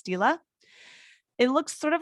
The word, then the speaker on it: stele: is the mernepta stila i for sure had to ask how to pronounce that last word i was saying stele but it's stila it looks sort of